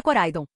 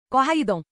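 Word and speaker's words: Koraidon: Este é Coraidon. Corra, Idon.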